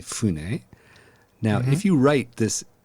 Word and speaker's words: fune: So sometimes F's change to B in Japanese. So sakabune or simply Fune.